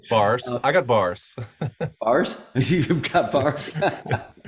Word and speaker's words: Baars: And do you pronounce the S on the end of Baars? Yeah, what, yeah, sure. Okay. Baars.